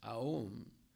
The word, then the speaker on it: Om: Yeah, the syllable Om is Aum. It means it's Krishna, Radharani, and the Jiva, and the 3 letters of Aum.